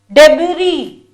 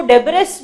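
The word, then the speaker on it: debris: डेबरी, इसको डेबरिस मत पढ़िए, the pronunciation of the word is डेबरी।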